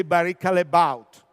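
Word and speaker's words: Barry Callebaut: division, the case of Barrica Les Baut. You know, all of us will speak Barrica Les Baut, but they are from Belgium, and they say Barrica Les Baut.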